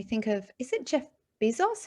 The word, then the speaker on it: Bezos: So it's really important, when we think of, is it Jeff Bezos? How do you pronounce his name? Jeff The leader. Bezos, I believe, Bezos.